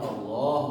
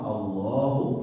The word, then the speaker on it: Allah: kita lihat di sini Allah itu ada tanda panjang. Kalau di Al-Quran Madinah biasanya nggak ada tanda panjang la-nya. Tapi karena mereka sudah memahami bahwa ini bacanya Allah, bukan Allah. Kalau tulisan Indonesia seringkali kan Allah itu A-nya satu belakangnya. Padahal dibacanya itu panjang.